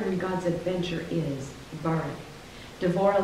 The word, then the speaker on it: Devorah: This week, we're going to briefly explore Deborah, pronounced Devorah in Hebrew, and out of deep respect for Deborah and her Hebrew heritage, I will refer to her as Devorah going forward.